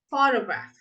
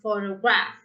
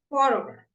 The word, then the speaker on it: photograph: Yeah, so we have photograph, not photograph, photograph, photography. Now we stress the second syllable.